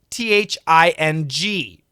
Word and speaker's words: thing: one thing th ing what's the pronunciation difference is it really different and the answer is 100% yes it's completely different okay and I'm going